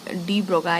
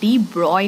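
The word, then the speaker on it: de Broglie: ब्रॉय बोलते हां हां डी ब्रॉय नाम है एक्चुअली डी ब्रॉय प्रोनाउंस में ई लगता है खैर हमें क्वेश्चन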